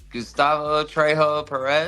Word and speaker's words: Gustavo Trejo Perez: Say Gustavo Trejo Perez.